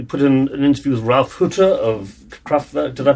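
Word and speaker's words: Ralph Hütter: last week we put in an interview with Ralph Hutter of Kraftwerk. Did I pronounce that?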